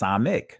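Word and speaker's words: ס: Now there is a s sound in ancient Hebrew, the samak. Israeli language is pronounced samek.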